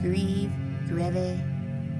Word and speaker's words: Grieve: Maud Greve, I'm not trying to spell how to say that. It is spelled, her name is spelled Grieve.